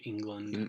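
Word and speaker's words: Englund: guy name Robert England Robert England but it's spelled with u l n d yeah with like England I don't know he's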